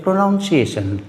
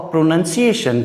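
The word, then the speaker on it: pronunciation: जैसे हम प्रोनंसिएशन कहते हैं, बिगिन से ही हम कहते हैं प्रोनाउंसिएशन, that is wrong. प्रोनंसिएशन, और प्रोनंसिएशन के लिए सबसे ज़रूरी है कि आप टीवी देखते ही होंगे।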